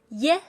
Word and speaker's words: ie: 非常好。IE in Pinyin is pronounced as ye, ye, like YE in yes, ye.